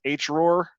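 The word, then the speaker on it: HROARR: how everybody pronounces this h roar and i'm talking about oh yeah h so you have to say it like your chewbacca okay so there's a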